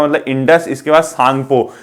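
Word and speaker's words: Tsangpo: मतलब इंडस, इसके बाद सांगपो। सांगपो में टी क्या है, अपने आप में एक प्रकार का साइलेंट है।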